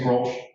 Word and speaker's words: Grolsch: There's a pretty well-known beer called Grolsch beer. Spelled the same way in Dutch, we say Grolsch, they do not. They say something like Grolsch.